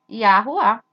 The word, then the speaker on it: Yahuwah: Yah, Hu, troca o W pelo U, no hebraico antigo, e o E pelo A. Yahuwah.